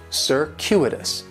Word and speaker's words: circuitous: going to be on that second syllable and that Cu is it's kind of like you're saying the letter Q circuitous circuitous and circuitous is